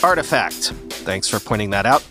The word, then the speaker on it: RTFKT: that Nike nft story as rtfkt is actually pronounced artifact thanks for pointing that